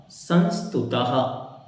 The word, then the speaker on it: संस्तुतः: ठीक है, जैसे हम बोलते हैं नमः, तो ना मा और 2 बिंदी, तो हा की तरह उसका उच्चारण होता है। तो यहाँ पे या के पीछे 2 बिंदियां हैं तो क्या बोलेंगे, यह। ठीक, तो यह संस्तुतः, फिर यहाँ 2 बिंदियां